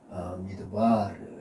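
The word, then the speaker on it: מדבר: 미드바 히브리어 단어는 항상 이음절의 엑센트가 있습니다. 미드바르 해가지고 아 그렇죠.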